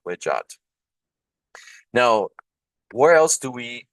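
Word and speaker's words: wedjat: So in this particular case, it's pronounced Wejat, and the German Edfu project is translating this as the land of Egypt.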